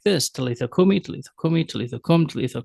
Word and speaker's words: talitha kum: When Aramaic is spoken, the spoken words would be Talitha Kum, Talitha Kum.